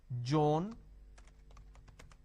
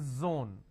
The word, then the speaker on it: zone: pronounce this as zebra Joan Jill so please don't make a mistake the moment you replace the Sir with a jar it's a mispronunciation it's not zebra it's zebra it's not John it is Zone it's